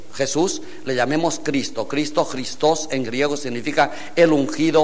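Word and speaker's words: Χριστός: tácito había confundido este cristos con este cristos Quiero recordar que los griegos de la de la Coin de la de los tiempos de Cristo pronuncian la eta como yota por tanto esta palabra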